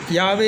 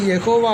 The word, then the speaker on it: யாவே: அதேபோல தேவன் என்று சொல்வதிலும் அவருடைய நாமத்தை எபிரேய மொழி உச்சரிப்பில் சொல்வது சிறந்தது என்று நான் கருதுகிறேன் இங்கே வேதாகமத்தில் யாவே என்று குறிப்பிடப்பட்டுள்ளது யகோவா அல்ல யகோவா என்பது இஸ்ரவேலர் ஏற்படுத்தி